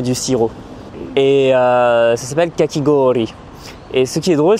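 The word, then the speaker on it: かき氷: Et en fait, j'avais demandé du kakemizu. Et là, la caissière m'avait repris en disant kakigori.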